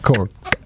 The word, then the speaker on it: Cork: You hit the K real hard on that. Cork. That's how they say it.